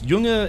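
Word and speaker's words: Junge: Um oh, I'm trying to remember how to say young uh oh gosh, how do I know it's yunga is is boy in German.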